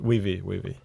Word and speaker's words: Weavii: So tell me more about, first, how do you pronounce it? Is it Weavii? Weavii.